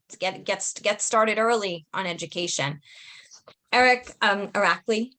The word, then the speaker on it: Irakli: Irakli, right?